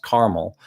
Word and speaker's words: Carmel: It's pronounced Carmel, but it's spelled Carmel.